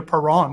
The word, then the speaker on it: Perron: Is it Perron or? Hey, I like how you guys say it. I might have to switch the pronunciation to Perron. That sounds really good. I like it. It does, doesn't it? It's kind of like French Canadian there. It's Parisian, maybe. There you go. Yeah, it's usually pronounced like a mom or dad parent, but I'll take what I can get.